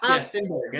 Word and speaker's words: Stenberg: a lot of and I guess like Amanda Stenberg, is that how you say it? Yeah, Stenberg.